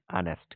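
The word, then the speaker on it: honest: कर रहा हूँ कि मैं भी इसे हॉनेस्ट पढ़ता था, बट इट is called as ऑनेस्ट। क्या बोलते थे? ऑनेस्ट।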